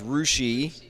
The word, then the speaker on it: Russia: City and town names in Ohio that are mispronounced Versailles Russia is rushi um Belle Fontaine is Bellefontaine they use the